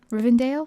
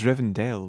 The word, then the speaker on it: Rivendell: like the elephant city river rivendale rivendale rivendale yeah do you know why that was all cg well it was rivendell wasn't it anyway do you know